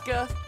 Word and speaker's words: Sokka: I'm Sokka. It's pronounced with an Akka.